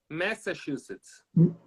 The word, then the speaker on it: Massachusetts: Na verdade, se você for ver a pronúncia certa, você não fala ma, você fala me. Massachusetts.